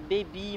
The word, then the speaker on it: Baby: Je suis Baby. Bon, Baby, il y a beaucoup de gens qui se dérangent un peu. Ça s'écrit B-A-B-Y comme bébé. Comme bébé en anglais.